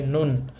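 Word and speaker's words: 눈: নিউনের শেষ বর্ণ হচ্ছে ন। আমি আবার লিখে দিলাম ন। একচুয়ালি নিউন উপরে থাকলেও ন হবে। নিচে থাকলেও ন হবে। যাই হোক এই শব্দটার উচ্চারণ হবে নুন।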